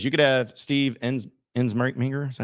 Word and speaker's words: Ensminger: Soggy says, you could have Steve Ensminger.